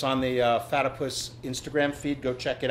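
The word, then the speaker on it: Fatypus: First off, I want to thank our sponsors, Fatipus Skis. Right. I got it right. Fatipus rhymes with platypus.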